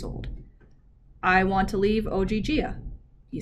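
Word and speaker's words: Ogygia: whatever you said oh gee gia the girl pronounced it slowly as if leo were five years old i want to leave oggia you said she exhaled clearly relieved good in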